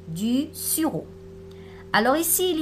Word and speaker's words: sirop: Voilà ici aussi du sirop. On ne prononce pas le P. Du sirop.